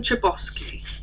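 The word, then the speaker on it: Chbosky: um the perks Are Being a Wallflower Steven chiosi that's how you say it it's got it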